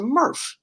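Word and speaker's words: MRF: Um that you So it it rhymes with smurf, but it's not a smurf. It's a murf.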